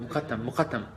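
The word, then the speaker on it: Mokattam: It's Muqaddam, right? Call it Muqaddam, but don't pronounce the Q.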